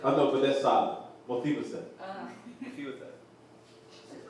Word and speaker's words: Mephibosheth: Mephibosheth. That's it. It's Mephibosheth. Mephibosheth. All right. It's Mephibosheth. Mephibosheth. Mephibosheth. Like. Just call me. Yeah, chef. I know, but that's solid. Mephibosheth.